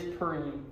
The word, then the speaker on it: Perime: So it is Perime, P-E-R-I-M-E.